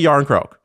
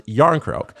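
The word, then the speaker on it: Järnkrok: Yarn crock. Like cool. Similar to how you say the word cool in English. Yarn crock.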